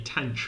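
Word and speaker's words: tanh: I say tanch for this one. Some people say fan, pronouncing it like the H's over here between the T and the A.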